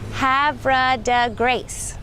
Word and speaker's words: Havre de Grace: resolution about how the name was to be pronounced so ready repeat after me havra de grace hav de Grace the town is probably the largest visitor attraction